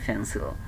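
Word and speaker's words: pencil: তারপরে একইভাবে দেখেন, আমরা যদি এটা ধরি, প্রথমে যেহেতু ফি আছে, ফি থাকলে প না হয়ে উচ্চারণটা হয়ে যাচ্ছে ফ, তাহলে পেন্সিলের পরিবর্তে এখন আমরা উচ্চারণ করব কি, ফেন্সিল।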